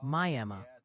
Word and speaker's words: Miami: Miami, Oklahoma is pronounced Miami.